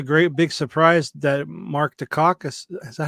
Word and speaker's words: Dacascos: And that was a great big surprise that Mark Dacascos, is that how you say it? Dacascos, yeah.